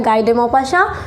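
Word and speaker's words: Guy de Maupassant: भी आप लोग थोड़ा, बहुत लोग प्रोनाउंसिएशन सबका अलग अलग होता है, नाम इनका ऐसा है गाय डे मॉपासा।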